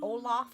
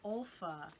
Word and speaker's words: Olfa: a rotary blade oh is it olaf is that how you pronounce it olfa olfa why is that light